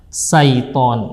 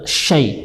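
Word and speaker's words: شيطان: Kemudian huruf shin pada kalimat syaitan, ya. Kesalahan yang sering terjadi adalah pengucapan seharusnya shin dibaca sa biasa, ya. Syaiton, ya. Ini bisa merubah makna. Yang benar adalah syai, ya. Syai, huruf shin berada di tengah lidah, ya.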